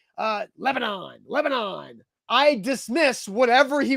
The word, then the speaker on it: Lebanon: at nashville super speedway in lebanon it's not lebanon it has never been lebanon wilson county hyundai is not in lebanon it's in lebanon lebanon it's not demon bruin street it's demumbrian